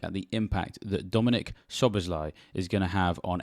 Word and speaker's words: Szoboszlai: have a look at the impact that Dominic shobazly is going to have on FPL and yes